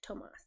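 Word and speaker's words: Tomás: When it has a little accent above it, you say it like Tomas.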